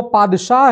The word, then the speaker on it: पादशाह: ये जो real pronunciation है टर्किश लैंग्वेज में, वो पादशाह है, जिसको कि इक्विवेलेंट टू गॉड कहा जाता है टर्किश लैंग्वेज में।